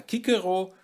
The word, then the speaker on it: Cicero: Ich sage immer Kikero und diese Aufsprache ist eigentlich auch diejenige, die von den Altphilologen und Althorikern als richtig befunden wird, denn die Aussprache des CS im klassischen Latein war wohl wie ein K im Deutschen.